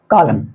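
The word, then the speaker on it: column: ए क्या लिखा हुआ इसके लिए रूल हमने लिखा है कि ए के पहले अगर ए हो ए के पहले अगर ए हो या कहे ए ए अगर साथ हो वैसी परिस्थिति में ए साइलेंट होते हैं जैसे कॉलम एन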